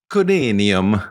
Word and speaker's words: Corinium: They knew it as Corinium, which sounds very cool. But say it with an Italian accent. Corinium. Not so scary. No. If I say Corinium, it sounds like, what Wolverine's made out of or something.